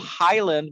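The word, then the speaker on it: Hyland: are yeah it's called it's called highland but it's spelled h-y-l-a-n-d highland park lake reserve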